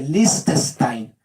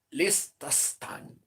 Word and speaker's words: Liechtenstein: de Liechtenstein.